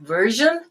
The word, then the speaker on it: version: Some people would say both of them like version, and some people would say both of them like virgin, but they're actually different.